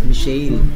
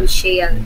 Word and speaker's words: Mishael: Actually, yung name ko, the correct pronunciation of that is Mishael. I'm here to tell you right now, we don't care. Parang Michael, oh. But with an S. Yeah. Mishael.